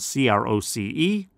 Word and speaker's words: Croce: And again, his last name is spelled C-R-O-C-E. Even though it's pronounced Croce, it's C-R-O-C-E.